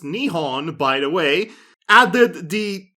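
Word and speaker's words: 日本: took the japanese word for japan which is pronounced nihon by the way added the incorrect translation of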